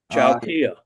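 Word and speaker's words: Chao Phya: Chowkia. Oh, thank you. Yeah. That's the way it's pronounced, and it was that way years later.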